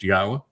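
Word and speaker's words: Yahweh: come up with proof that God's name is pronounced Yahwa and have determined that um Jesus never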